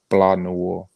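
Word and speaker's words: Blanc Noir: So it's called it's called Blah Noir, like that, and that's spelled BLANCNOIR. Okay. Well, we'll definitely be on the lookout for that. The sea is silent.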